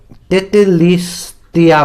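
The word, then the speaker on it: τετέλεσται: हुआ है, इसका वर्ड में ग्रीक में इसको तेतेलिस्तिया बोल के इसका प्रोनाउंसिएशन ऐसा है।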